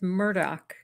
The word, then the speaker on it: Murdaugh: a murderer you know Anna says the news there pronounces it as Murdoch during the trial several